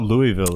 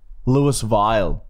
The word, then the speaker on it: Louisville: Louisville in KY Kansas it's not Louisville is where Dorothy's from Louisville Wizard of Oz like she's from there Louis vial is pronouncing you're in Australia Louis vial KY all right so